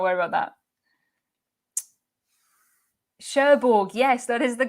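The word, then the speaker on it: Cherbourg: that i cannot pronounce sherborg is how i've always said it um what people in france think of that pronunciation i don't know that's how i would say it and well done to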